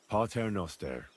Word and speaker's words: Pater noster: You're saying it wrong. Listen. It goes like this. Pater noster, qui es in celis, Sanctificator nomen tuum.